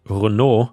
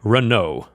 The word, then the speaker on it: Renault: the Netherlands with a Renault Dina ship and by the way I think in Europe we would pronounce it Renault which is the French way but I suppose in